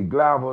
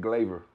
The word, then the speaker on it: Glavir: for another show hey global though so i'm calling it global but you saying glaver yes glaive graveyard you